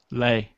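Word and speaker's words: Lae: N guine called L AE how do you pronounce that Lei Lei oh okay that's easy so uh yeah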